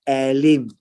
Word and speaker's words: Elim: This word is Elim. So it's pronounced as E.